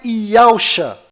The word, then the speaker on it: Yahusha: O que você acabou de ver é incontestável, pois eu acabei de pegar uma pronúncia legítima que é feita lá em Israel, apliquei essa pronúncia na transliteração e coloquei as letras hebraicas na posição correta do nome do Messias. E a pronúncia é Yahusha.